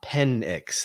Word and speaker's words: Penix: Says Penix. That's how you say his name.